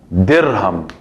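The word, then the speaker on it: درهم: La D aquí tiene fatha, kasra o damma. Tiene kasra, muy bien, porque pronuncio dirham.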